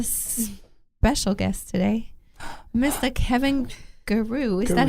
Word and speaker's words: Gerew: Kevin Gerew. Is that how you say it? Yeah, Gerew, That whatever.